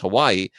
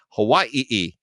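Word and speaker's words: Hawaiʻi: So it's not NCIS Hawaii, it's NCIS Hawaii, which is what you're supposed to say if you're going They're being culturally sensitive.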